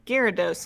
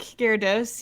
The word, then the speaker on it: Gyarados: much got it uh gyarados is how i've always heard it pronounced i think i might